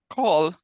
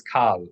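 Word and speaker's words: כל: to quickly learn that kol is the exception. They pronounce the vowel in the classical way, even in modern Hebrew, with the word kol. So don't read kol as kal.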